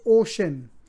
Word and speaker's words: Uxin: is no other than ux i n pronounced ocean a future giant analyst